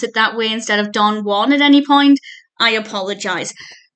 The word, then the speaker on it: Don Juan: my favorite person ever his poem is pronounced Don Jan there's a whole reason